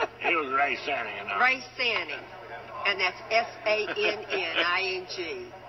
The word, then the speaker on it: Sanning: It was Ray Sanning.